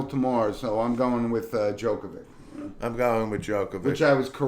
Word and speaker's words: Djokovic: it's Djokovic. Oh, as in the Joker. Exactly. So But I think the correct Serbian pronunciation is Jokovic.